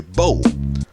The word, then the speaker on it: bow: stick was called a bow a word rhyming with o the oldest existing violin